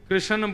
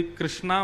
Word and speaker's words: कृष्ण: लाल की जय बंधुओं कई लोग इस नाम को अशुद्ध बोलते हैं कई लोग कृष्ण बोलते हैं कई लोग कृष्ण बोलते हैं कोई कृष्णा बोलता है भगवान का नाम शुद्ध उच्चारण करो नाम क्या है कृष्ण भगवान जय श्री कृष्ण